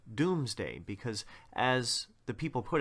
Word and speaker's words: Domesday: It's actually pronounced Doomsday because, as the people